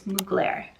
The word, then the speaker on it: Mugler: I also, thank you so much, the first comment who said the fragrance I wasn't sure how to pronounce is Mugler.